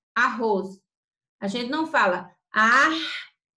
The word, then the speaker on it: arroz: r em cada sílaba mas a pronúncia é como se fosse só com um único r arroz a gente não fala